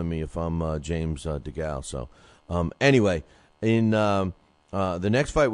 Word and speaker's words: DeGale: You know, I'm not taking anything away from DeGalley, but, you know, or DeGale is how you pronounce it, but Zuniga is not an easy fight for him.